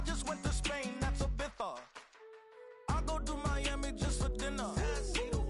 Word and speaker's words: Ibiza: Ibiza, Ibiza. Yeah, it's pronounced Ibiza, actually.